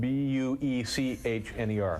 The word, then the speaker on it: Buechner: Congressman Jack Buechner, but it's spelled B-U-E-C-H-N-E-R. That's correct. But it's pronounced Buechner.